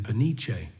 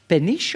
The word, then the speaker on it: Peniche: Now where we go from the fortress penish or peniche? How do you pronounce it? Peniche.